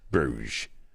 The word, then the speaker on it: Bruges: all the best places bruges bruges silent s there's no way to